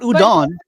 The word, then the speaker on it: udon: better than me Udan it's called Udan look it up not udon udon there's noodles but I'm talking about um